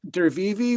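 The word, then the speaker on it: Drwiwy: i it's d-r-w-i-w-y and i asked him how to pronounce it and it was even more confusing than looking at the word but it's dervivi with um an artist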